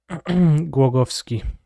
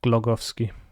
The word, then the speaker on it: Głogowski: The weird L. It's Eł. It's almost as if you took a W and pronounce it in English. Głogowski, not Glogowski.